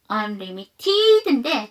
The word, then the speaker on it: unlimited: unlimited인데 t 사운드가 모음과 모음 사이에 꼈죠. 한 번 더 약화 unlimited가 되죠.